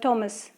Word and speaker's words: Thomas: you can pronounce it Toms or you can pronounce it Thomas. Okay, you can say it in the way you want it to.